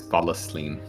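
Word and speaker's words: vallaslin: It's Valaslin. Valaslin, sorry. I don't know how to pronounce Dalish words, okay?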